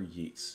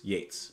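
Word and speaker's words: Yeats: trees by William Butler yeetes Yates I believe is how you pronounce his name yeah so actually looking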